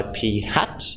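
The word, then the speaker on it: p̂: over it denoted by P and denoted by P hat is how we pronounce it this means P hat P hat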